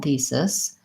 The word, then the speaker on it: thesis: so analysis and thesis I would if you having trouble with that vowel just build from the sis same vowel as in it so one thing you could try is changing it to a sit to see if that makes it easier to correct the vowel so I would say